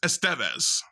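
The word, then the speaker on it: Estévez: That little apostrophe, the that accent mark, that means that's the syllable that gets stressed.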